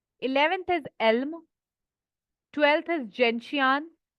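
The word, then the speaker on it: gentian: 11th इज एल्म, 12th इज जेंशियान, कुछ जेंटियान भी बोलते हैं बट आई प्रोनाउंस इज जेंशियान।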